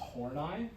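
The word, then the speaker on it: Horney: So uh one example of a Freud and his Karen and the name isn't pronounced like it looks like it should be. Uh it's pronounced Hornai. Uh so Hornai took issue with some of the sexism in Freud's theory.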